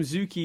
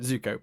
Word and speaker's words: Zuko: it you keep it's you always call him zuki or zuku and then like my internal just got reaction to zuko zuko do it right say it right zuko but i just have